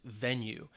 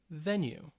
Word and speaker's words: venue: kind of sports is venue it is a noun it's two syllables and the stress is on the first syllable then you Venu Venu and this is